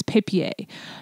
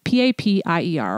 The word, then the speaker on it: Papier: And one of the companies that I shared that offers beautiful notebooks is Papier, P-A-P-I-E-R, or Papier, depending on how you pronounce it.